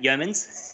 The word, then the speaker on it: Yeomans: Night Gaming fame, Yeomans. I've said it wrong already, mate. Yeomans. Nailed it straight out the gate.